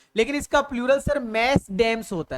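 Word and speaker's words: mesdames: मैडम की spelling ये भी लिखी जा रही है, मैडम की स्पेलिंग ये भी लिखी जा रही है, लेकिन इसका प्लूरल सर मैस डैम्स होता है।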